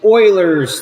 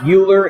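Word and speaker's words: Euler: is a prism all right so this is Oilers theorem it's not pronounced uler it's a it's pronounced Oiler Oilers theorem the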